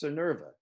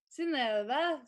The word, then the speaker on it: Synnøve: Say it, it's Synnøve. Yeah, Synnøve. Yeah. There you go. I mean, in Norwegian, it's like Synnøve.